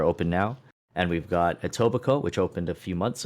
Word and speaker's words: Etobicoke: from from ontario who told me that the k is silent and and that made me realize i was saying it wrong the whole time but yeah it's etobicoke and and uh what